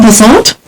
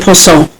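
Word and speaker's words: Ponsot: Domaine Passant? I think it's Domaine Passant. Passant? The T silent? I think the T's silent. It's, for our listeners, it's P-O-N-S-O-T.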